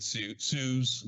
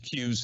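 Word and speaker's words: CEWS: emergency wage subsidy um some people called it sues queues seem to be the more common uh pronounced pronunciation um the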